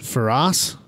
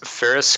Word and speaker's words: Ferris: Is it Ferraz? It is Ferris Khartoumi Ferris. is the way that he pronounces it.